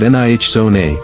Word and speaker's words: Nijoni: She pronounced it Nih Zone, the ZH like the buzz of a bee.